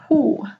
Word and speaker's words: sju: Hu, ini tulisannya sju, ya, sju. Tapi dibacanya hu, ya, hu. Jadi kayak, apa ya, kayak hu, ya.